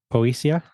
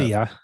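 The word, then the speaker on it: Poesia: I can't pronounce it the poia poia it's Italian it's an Italian word the MC poisa p p o e s i a okay or posia or something like that posia yeah I guess if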